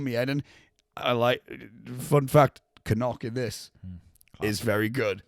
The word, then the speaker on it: Knock: It's not knock. One thing I've discovered, the correct pronunciation is Canuck. Is it? It's Canuck.